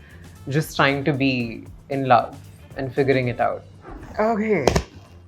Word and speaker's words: Loev: It's called Love, but it's spelled Loev.